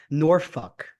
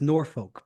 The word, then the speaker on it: Norfolk: the other one is norfol everyone thinks it's Norfolk but it's nor you're actually supposed to say it that way that's literally the end